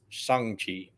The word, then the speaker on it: Shang-Chi: First off, I found out it's actually pronounced Shang-Chi.